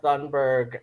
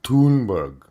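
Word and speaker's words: Thunberg: on on Twitter so he apparently called Greta thundberg and um it's pronounced tunberg whatever uh called her an autistic child uh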